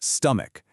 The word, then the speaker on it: stomach: Phonetically, it's stomach and right away notice that c h e at the end makes a hard k sound.